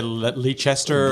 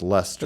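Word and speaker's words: Leicester: they ever say the leester Leer yeah right Rolling Stone leaser and I went no it's pronounced Lester it's a play and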